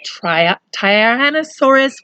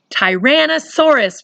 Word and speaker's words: Tyrannosaurus: scariest and meanest was the Tri tire an asaurus rex that's not one of the easiest words for miss Amy to say you might just call it a t-rex Tyrannosaurus Rex that's right I said it wrong but that's okay we